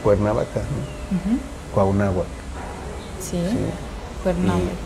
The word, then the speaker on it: Cuauhnáhuac: Churubusco, pues fue por la mala pronunciación castellana, ¿no? Es Huitzilopochtli. ¿no? Sí. Entonces fue y Cuernavaca, ¿no? Ujú. Cuauhnáhuac, Sí, ¿sí?